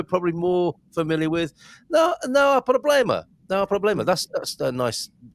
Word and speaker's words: há: Because people want to say ha instead of Yeah, not just the H is silent at the beginning of any word with an H. It's a silent letter.